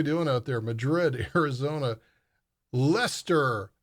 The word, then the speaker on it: Leicester: Madrid, Arizona, Leicester. You got to say it right, Leicester, UK, not Leicester.